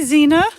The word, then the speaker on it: Xena: Hi, Zena. I call her ZZ, but her name is spelled Xena, not Z.